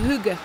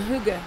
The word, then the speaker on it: hygge: there's a word i think uh it's called hygge it's spelled h-y-g-g-e h-y-g-g-e what does that mean it's